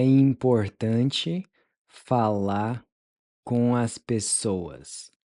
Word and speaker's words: as pessoas: As pessoas. As pessoas. As pessoas. As pessoas, literally the people. As pessoas. So the A is pronounced like the in Cuba. Pessoas.